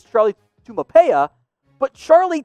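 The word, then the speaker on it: Taumoepeau: name is a mouthful if you want to pronounce it it's charlie tumapaya but charlie t has the build of that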